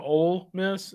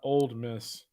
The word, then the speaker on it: Ole Miss: And by the way, it's also Ole Miss and not Old Miss.